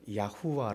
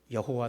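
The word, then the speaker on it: יהוה: 히피 연구를 했더라고요 이게 그분 주장은 뭐냐면 예 구약 의 그네들 자 의 발음은 야후와 라는거 예약 후 와 여호와 도 아니고 약 후와 클래스 그래서 아 우리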